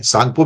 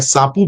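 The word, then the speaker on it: Tsangpo: सांगपो भी कह सकते हैं, सांपू भी कह सकते हैं उसको, 2-3 नाम है उसके चाइनीज के अंदर, तो जो आप कहना चाहें, जैसे प्रोनाउंस करना चाहें कर सकते हैं।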